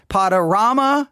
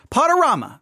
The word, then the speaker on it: Podurama: See, now someone said you think the Rama part is play on drama, right? Rama, drama, since it's podcasting, which would mean pronounce like that. Just throwing out a guess. I agree with that person. Someone in chat is already saying that. That's how I saw it. Rama, drama, podorama. That's Rama.